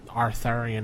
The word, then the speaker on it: Arthurian: Arthurian era. What? Oh, I can't pronounce it.